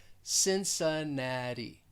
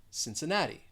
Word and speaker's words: Cincinnati: city in ohio and both of those cs they're going to sound like an s that second syllable has the schwa since the third syllable stressed and that fourth syllable has the long e and also that final t it is a flap t so there's a lot